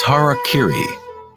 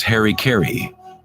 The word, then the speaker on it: harakiri: suicide or seppuku was harakiri was often mispronounced as Harry Cary it means to impale